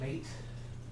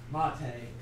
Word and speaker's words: MATE: This is Mate. It's pronounced Mate, not Mate.